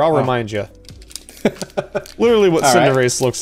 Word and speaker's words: Cinderace: Galarian Zigzagoon, Gossifleur, Marnie, what a babe, and is it Cinderace?